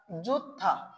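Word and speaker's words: 좋다: হিউত বাচ্চিমের পর দ্বিগুণ থাকলে দ্বিগুতের উচ্চারণ দ না হয়ে কি হবে? থ হয়ে যাবে।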